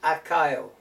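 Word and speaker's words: Accio: It's Akaio. That is how it's pronounced.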